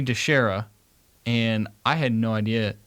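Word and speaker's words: DiChiara: Okay, we need to apologize because we pronounced his name wrong. We did. So it's Sonny DeShera, and I had no idea.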